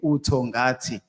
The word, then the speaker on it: Utongati: Utongati means nothing when you say it like that. Tongati, it means nothing. But when you say Utongati, it makes sense.